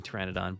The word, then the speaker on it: Pteranodon: So P is silent in Pteranodon, but not in helicopter.